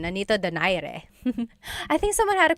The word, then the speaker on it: Nonito Donaire: So our first poll here is going to be Manny Pacquiao versus Nonito Donaire, or is in the Tagalog pronunciation, Nonito Donaire.